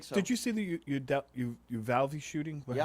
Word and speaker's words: Uvalde: Did you see the Uvalde shooting? Yeah. How do you pronounce it?